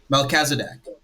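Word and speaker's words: Melchizedek: So when when Abraham comes and meets Mesc is that how you say his name? Melazdc.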